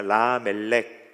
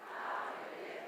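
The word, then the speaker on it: למלך: 이게 이제 구약 성경이 기록된 히브리어입니다.이 히브리어로 보면은 어 라멜렉이라고 읽는데요. 우리 한번 따라해 보겠습니다. 라멜렉. 라멜렉.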